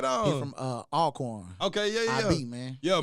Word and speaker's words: Alcorn: I first met JJ, I said Alcorn. No, Alcorn. Hey. They don't want you to pronounce the whole thing. Boy, hey, he got on my top too. Hey, you gotta cut that thing in half, man.